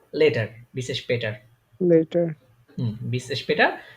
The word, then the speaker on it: später: তাহলে এর এটা কিন্তু, এটা শুধু যদি স্পেটার। আ হইতো তাহলে তখন উচ্চারণ হইতো স্পাটার, কিন্তু এটা উমলাউট হওয়ার স্পেটার। কারণে উচ্চারণটা কি স্পে তার, তার।